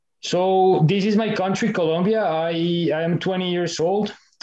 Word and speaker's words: Colombia: So before getting it started, it's important to remember that it's Colombia, not Colombia.